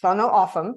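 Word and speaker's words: Tohono O'odham: So, Sono Aam, that's the correct way to pronounce the name of this tribe.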